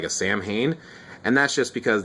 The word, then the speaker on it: Samhain: isn't that like a samhain and that's just because the m h makes a w sound this is you know a gaelic word and uh there's there's